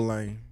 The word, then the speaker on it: Lane: Was the reporter right in telling Lane Kiffin that your name is still Lane? you is not. Rhymes with lame.